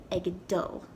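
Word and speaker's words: ag dul: it that way but for the purposes of this video i'm going to be pronouncing it egg doll anyway after you say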